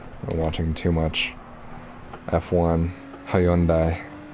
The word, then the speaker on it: Hyundai: I'm watching too much F1 Hyundai is how they say it.